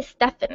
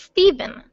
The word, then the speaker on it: Stephen: about is 1975 step Stefan I always say Stefon it's Steven it's I think it's